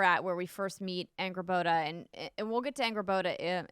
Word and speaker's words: Angrboda: So I left off right after Atreus was with Angrboda.